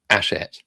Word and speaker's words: Hachette: Because you don't pronounce the H in French.